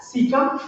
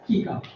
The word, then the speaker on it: cecum: It is pronounced as cecum as well as cecum.